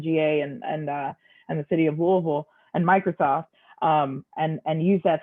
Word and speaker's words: Louisville: which means you have to know how to pronounce Louisville, like you're from here, which is Louisville.